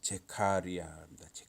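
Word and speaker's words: זכריה: 북 이스라엘의 여로보암의 아들 그래서 히브리어 발음은 제카리아 칼 여기 구제를 보니까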